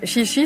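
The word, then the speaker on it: xixi: parle quoi tu vois donc chichi c'est pipi chichi ça s'écrit XI XI et c'est pipi petit café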